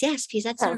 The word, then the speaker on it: Piaseczno: That was the Piaseczno Rebbe, yes. Okay, did I say it right? Yes, Piaseczno Rebbe, yes.